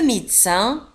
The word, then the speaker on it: médecin: طبيب le médecin un médecin نجد في آخر الكلمة CIN. وتنطق médecin ça un médecin un médecin